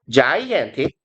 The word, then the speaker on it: gigantic: 그럼 gigantic 이걸 뭐 기간틱이라고 읽으면 뭐 독어식 발음이 되는 거고 영어로는 gigantic이에요.